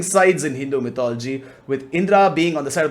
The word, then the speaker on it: Indra: On to the next one though, you have Indra and Asura. Yeah, I'm not sure how other people pronounce this, but in India it's Indra and Asura.